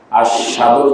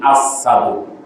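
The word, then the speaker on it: أشهد: আশহাদুর জায়গায় আসসাদু, অর্থাৎ এখানে আছে কি শিনের উচ্চারণ, কিন্তু জিহ্বার ব্যথার কারণে শিন উচ্চারণ হয় না, কি হয় সিন, আসসাদু হবে কি আশহাদু।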